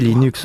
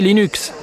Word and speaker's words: Linux: Eh bien, je prononce Linux comme Linux. Cependant, si vous êtes Linus Torvalds, vous le prononcerez sans doute Linux. D'un autre côté, si vous venez de la côte ouest des États-Unis, vous pouvez le prononcer Linux.